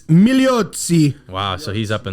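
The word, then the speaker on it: Migliozzi: his last name producer milotzi it's meliotzi wow so he's up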